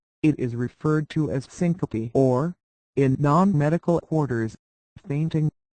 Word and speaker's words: syncope: is referred to as Syncopy or in non-medical quarters fainting Syncopy accounts for one in every 30 visits to an emergency room it is pronounced Sy Koop Syncopy is due to